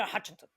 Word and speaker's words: Hjartarson: So it's Vilander Hartensen. And it's the way it's spelled, like Vilander is spelled Viglunder. So the VIG kind of throws you off, right? And then his Mm-hmm. last name is spelled Hjartarson. So like that like double consonant thing screws you up. Mm-hmm. And he says it like Vilander Hutchinson.